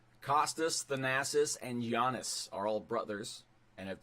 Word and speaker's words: Giannis: I know I'm pronouncing Giannis correctly because I did this question live once, and I got yelled at for calling him Giannis. Sounds like Janice.